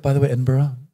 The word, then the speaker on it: Edinburgh: By the way, Edinburgh, not bad. I've been there once. They corrected me more than once. Edinburgh, exactly.